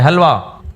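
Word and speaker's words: حلوہ: हुलिया हुलिया होता है हुलिया हलवा होता है हलवा हालांकि लिखा कैसे जाता है तुम लोग को इतना ज़ौक है हलवे का ना कुछ हलवा लिखा जाता है हे से लेकिन पढ़ा कैसे जाएगा हलवा तो ये कुछ बातें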